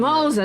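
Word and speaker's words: Moze: We are Jiaoqiu and Moza, retainers of the Moza, that's how you pronounce his name.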